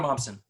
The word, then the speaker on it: Momsen: Taylor Momsen.